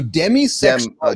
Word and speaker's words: demisexual: So demi like demi more. So demisexual de Mi.